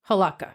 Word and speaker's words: Hlavka: okay I'm GNA tell you about Anna Marie halaka okay halaka that's how you pronounce it h it's HL it's h l a v Ka a but I'm pretty sure it's pronounced halaka okay so Anna Marie halaka was born in 1958 in Portland Oregon oh